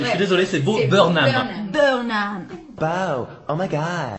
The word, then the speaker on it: Burnham: désolé, c'est Bo C'est Burnham. Burnham. Wow, oh my god. J'ai mal prononcé le E.